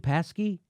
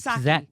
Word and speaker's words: Psaki: Paskey? I think it's Psaki. Psaki? I think they don't pronounce the P for some Neera reason.